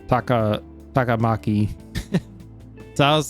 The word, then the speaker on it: Takamaki: Hey, wasn't that Takamaki? Takamaki. See, I was saying Takamaki.